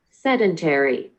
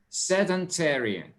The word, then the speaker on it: sedentary: Sedentary. Sedentary. Mm-hmm. So the British pronunciation is sedentary. Sedentary, and American is sedentary.